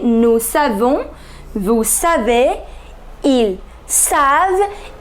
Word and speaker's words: savent: savons vous savez ils savent il ne faut pas prononcer ent vous n'allez jamais prononcé ent you never have to